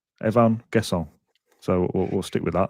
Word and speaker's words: Evann Guessand: But yeah Fred Blogs who's a French teacher says perfectly pronounced Evvan guess.